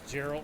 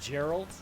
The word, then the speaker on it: Geralt: Also, it's Geralt with a hard G. Geralt! Gah! Sure it's not Gerald with a soft G, as in GIF.